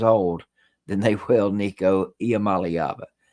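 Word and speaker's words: Iamaleava: at 56 years old than they will ni IAM malava say it with me boys and girls I Mali AA now you can just say Nico but I'm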